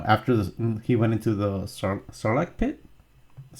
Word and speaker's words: Sarlacc: Because after he went into the Sarlacc pit.